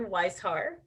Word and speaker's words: Weishar: next we have westchart white sword sorry if i mispronounce the name am i here there we are hi my name is weishar which everybody gets wrong so don't worry i